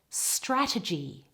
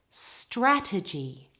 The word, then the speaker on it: strategy: The first one has all of the stress on the first syllable. Ready? Strategy. Strategy. Strategy.